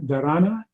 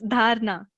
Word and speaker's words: Dharna: And help me with the pronunciation of your name, Dharana. Is that No, it's dharna.